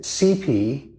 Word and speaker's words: CEPE: just attended the now everybody was pronouncing it CP. Apparently, that's the way you do it. It's the CP computer ethics philosophical inquiries 2025 conference which we have just completed this morning.